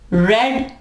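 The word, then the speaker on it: read: The book had not been रेड, ये रीड है ना, रीड की थर्ड फॉर्म रेड है, स्पेलिंग उसके सेम है लेकिन जब उसको प्रोनाउंस किया जाएगा तो ये रेड पढ़ा जाएगा।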